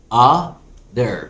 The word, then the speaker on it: utter: ا كرر رايا تاني ا در بننطق تي كده دي خفيفه في الامريكان اكسن ا ليها معنين اساسيين